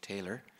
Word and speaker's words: Naylor: Dave Taylor almost rhymes with Mahler but different Dave came originally or